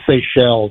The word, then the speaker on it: Seychelles: Like, where is the Seychelles?